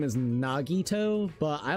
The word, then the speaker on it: Nagito: I everybody like his actual name is Nagito, but I like calling him Nagato to be quite honest.